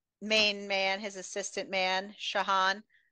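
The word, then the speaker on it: Shaan: man his assistant man shahan I've been pronouncing it Sean all the time he's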